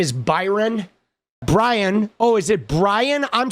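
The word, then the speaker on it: Bryon: I thought it was Byron. It's Brian. My bad. Dude, I see I've even been saying his name wrong. Dude, it's Brian. Oh my god. Dude, excuse me while I say his name for like the first half of the video. Pardon me because I am so like like unaware of this dude. It's Brian, spelled like Byron like a dyslexic Byron.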